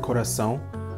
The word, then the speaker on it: coração: For example, in the word coração, the first A, which is pronounced A, is pronounced differently from the second A, which has a nasal un sound to it.